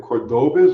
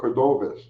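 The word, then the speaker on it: Córdoba: Mexican speculators say in Spanish the B and V have almost the same sound, so sometimes the letters are interchangeable. So what do you call them in Mexico? Are they Cordobas or Cordovas? But regardless of how it's pronounced, they were spelled with a B.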